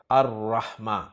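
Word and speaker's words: الرحمة: रहमा पे जब अलिफ लाम दाखिल होगा तो लाम नहीं पढ़ा जाएगा अर-रहमा।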